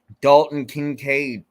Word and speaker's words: Dalton Kincaid: he's available right now I'm going with him Dalton Kincaid you know if I'm saying that correctly sorry